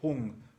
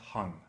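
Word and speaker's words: Hūṃ: whom yeah whom yeah that is pronounced whom not hyung okay whom I often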